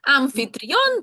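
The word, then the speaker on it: anfitrión: Угу. Амфітрійон - це хазяїн, господар, той, хто приймає в себе от гостей, так, до кого люди прийшли, а він такий тут от гостинний весь із себе.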